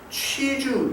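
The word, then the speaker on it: 秋菊: 그리고 이제 중국 5세대 영화의 그 귀주 이야기라고 있는데 귀주 이야기. 그러니까 귀주 이야기에 보면 이게 잘못된 발음인데 취주 이야기입니다.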